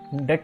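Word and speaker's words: deque: Tech or DQ in deck or DQ is pronounced deck but you can call it DQ also whatever you like in that Q is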